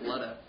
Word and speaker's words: Ludo: Hi, we're in Ludo. This is Ludo. Matt. I'm Andrew. I'm Tim, and I'm in Ludo. I'm the other Tim. And together we're in Ludo. Ludo. It's pronounced Ludo.